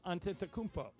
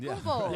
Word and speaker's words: Antetokounmpo: C, Giannis Antetokounmpo.